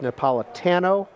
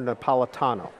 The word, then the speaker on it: Napolitano: one that we've debated is your last name pronounced Napolitano or Napolitano Paula dado tan oh the hard ten okay